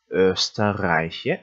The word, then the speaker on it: Österreich: 그래서 빨리 읽어서 österreich 이렇게 읽으시면 되겠죠. Wien은 어디의 수도다? österreich의 수도다.